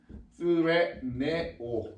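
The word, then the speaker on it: θρηνέω: TH 발음이지만 스레네오 이렇게 발음합니다.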